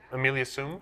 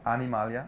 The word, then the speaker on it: Animalia: And just so I don't mispronounce it, Amelia Sum? Animalia. Animalia Sum? Yeah.